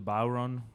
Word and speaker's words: bodhrán: know so something that looks like the bow run by the way that's how you pronounce it at bodhrán belongs to but all